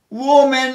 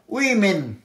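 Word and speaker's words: women: তারপর এই উচ্চারণটা অনেকেই ভুল করে, আমিও হয়তো করতাম, উওম্যান এখানে লেখা আছে, উওম্যান নয় উইমেন, উইমেন, উইমেন, উইমেন, আমিও ভুল করতাম এটা উইমেন।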